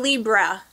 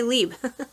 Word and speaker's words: Libre: It's not Libra, but it's like Libre with an R-E in a way that I can't pronounce it, so I'm just going to say Libre.